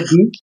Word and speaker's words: the: English দি অর দা কোনটা সঠিক কেউ বলে দি সঠিক আবার কেউ বলে দা সঠিক আবার কেউ